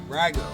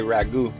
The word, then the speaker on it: Rago: Rago. Rago. You wouldn't believe how many I hear say ragu.